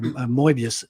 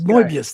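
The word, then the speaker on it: Moebius: You're saying you're saying it wrong. It's Mobius. Moius. Mobius. Moius. Say say Mo and then say mobius. He's French. Patrick, you tried.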